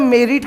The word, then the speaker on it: quantum meruit: क्वांटम मेरिट का जो pronunciation है, recently when I checked it अप, ठीक है, इसका प्रोनाउंसिएशन मेरिट नहीं है, इसका प्रोनाउंसिएशन होता है मेरिट, मतलब MEREET, ये इसका प्रोनाउंसिएशन है।